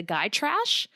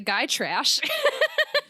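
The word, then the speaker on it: Gytrash: this creature called and I believe it's pronounced the guy trash uh which is like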